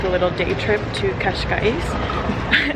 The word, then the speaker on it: Cascais: little day trip to kashka which is I looked up how to pronounce it Kash I believe to have a little